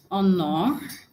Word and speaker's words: honor: Okay, so yeah, I have honor, which transcription is the short or sound honor. So because it, like I said, because it's a disyllabic noun, the stress falls on the first syllable.